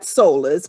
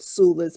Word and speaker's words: Soulas: doula we came sula it's spelled s-o-u-l-a-s not solas but sula's because it's connected to the word doula and so that's how